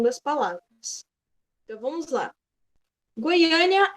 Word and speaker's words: Goiânia: palavras Então vamos lá Goiânia é única cidade que gostaria de morar Goiânia a gente tem essa entonação a sílaba tônica que é a sílaba mais forte no a E ali a gente